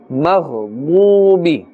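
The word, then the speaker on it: الْمَغْضُوبِ: A little pulling is here up to one alif because waw sakin has a dhamma before it, and this is waw madda. Maghdubi, dad, part of the huruf musta'aliyah also, therefore it's pronounced with a full mouth.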